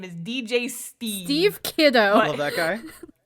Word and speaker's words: Steave: He's Swedish. It's pronounced Steve.